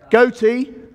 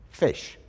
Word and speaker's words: ghoti: an English word Gotti goatee gee hottie okay thank you Frank eat it's actually pronounced fish so you going like